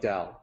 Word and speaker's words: Tao: So the correct way to say it like Dao with a D sound. The incorrect way is to say it like Tao.